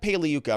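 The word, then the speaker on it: Pagliuca: cross-examination we bring out jeff paleyuca remember the g is silent like lasagna paleyuka comes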